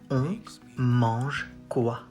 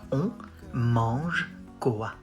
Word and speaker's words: on mange quoi: On mange quoi? Lots of nasal sounds like on mange quoi?